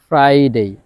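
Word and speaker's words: Friday: পর কনসোনেন্ট আছে Thursday ফ্রাইডে ফ্রাইডে এফ এর পরে আর আই আছে তাহলে আর এর পর যেহেতু ভাওয়েল আছে এই আর এর উচ্চারণটা হবে ফ্রাইডে আশা করি এই সাউন্ড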